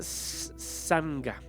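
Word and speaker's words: sangha: está sanga budismo eh se pronuncia sanga es una palabra del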